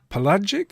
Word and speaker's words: pelagic: know why so the remains of large predatory pelagic is that the right way to pronounce that word I don't even know what